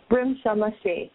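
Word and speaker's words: Rimsha Masih: I'm going to try to pronounce her name right. Risha Mashi, is that correct? Risha Mashi, yeah.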